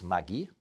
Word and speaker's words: Maggi: There was a Swiss gentleman, Julius Maggi, so that's how you pronounce it, the German part of Switzerland.